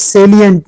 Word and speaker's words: salient: QR enabled identification cards and amnesty programs for voluntary disclosure are some of the salient, and mind it is salient, not silent.